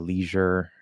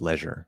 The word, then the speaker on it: leisure: which doesn't usually happen that can also be pronounced Leisure of course yeah that's probably where that's coming from Leisure Leisure it's two pronunciations um I I usually